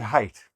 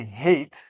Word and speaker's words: height: For example, the word height. If you say hate, then in the context of the sentence, depending on the sentence, I might not understand the whole sentence because you mispronounced one word. If you say hate, right away I know that you don't actually know this word. You saw it somewhere and you're saying it like it looks.